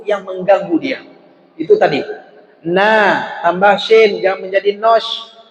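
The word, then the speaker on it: نَ: berharkat di atas apa kita baca Na bukan No kan bacanya Na bukan no ketika bertambah dengan syin yang bertasydid tinggal tambah Nas bukan nos nah ini yang yang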